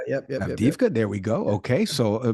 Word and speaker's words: Avdiivka: pronounce it because I'm going to butcher the pronunciation. I think it's Avdiivka, but Avdiivka. Yep. Avdiivka.